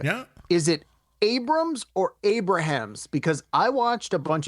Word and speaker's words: Abrahams: I can understand why people would say Abrahams, but I've always heard it pronounced Abrams.